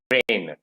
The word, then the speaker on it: reign: are known as homonyms basically so this is pronounced as rain rain so here is g is silencer that is